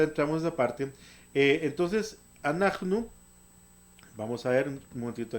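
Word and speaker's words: אנחנו: Se dice anachnu. Anachnu es nosotros y nosotras. Y como tanto hombres como mujeres lo pueden usar, bueno, ahorita entramos en esa parte. Entonces, anachnu, vamos a ver un momentito aquí.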